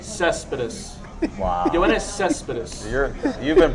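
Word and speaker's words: Céspedes: Yoenis Cespedes, outfielder for the How do Oakland you pronounce A's. that name? Cespedes.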